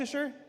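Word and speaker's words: Leicester: How do you say is that Leasher? Lester.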